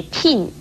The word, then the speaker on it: 聘: 聘字的国语注音是聘，四声聘，也可以念成聘，颇应聘，四声聘。